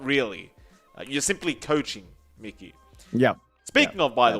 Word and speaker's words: Mikey: a long time ago it is actually pronounced mickey if i'm not correct john you and i did ask the man in lobby once and he did say his name was mickey yeah everyone says mckay because everyone's too afraid to mispronounce it yeah yeah i